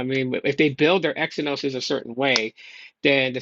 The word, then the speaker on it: Exynos: if they build their Exynoses a certain way then the same way they build their Exynos processor or a Zenos um is actually pronounced then they're going to build, you know, tensors the same way.